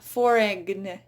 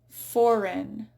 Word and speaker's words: foreign: It's not foreign, foreign. It's a silent G.